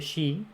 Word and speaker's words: Sidhe: de las hadas de los feliz si se pronuncia sin de s y d h si de no